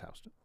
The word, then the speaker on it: Houston: It's pronounced Hston.